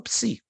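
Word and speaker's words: ψ: sim s sim não alguém tá erando aí P si ps psu ps isso Psi Psi a palavra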